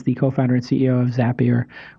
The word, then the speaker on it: Zapier: co-founder and CEO of zapier which makes people happier it's not their tagline but that's how you can remember how to say it and it's za p ier you can go to